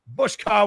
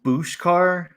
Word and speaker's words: Bushka: is i am good thank you for pronouncing my name correctly a lot of people do not do that so thank you i appreciate it what do they say bushka a lot of people say boosh car yeah it's it's all